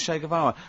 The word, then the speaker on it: Che Guevara: his name was Shea it's like Shake and his his surname is like guitar okay um but anyway